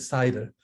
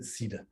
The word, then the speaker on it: CIDR: and by the way most people pronounce it cider um and a few people pronounce it ceda um so i have to remember to say cider to being with the